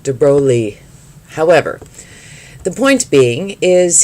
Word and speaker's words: de Broglie: believe he was a prince de broglie is how we say it in america although i have been told it should be pronounced like de broglie however the point being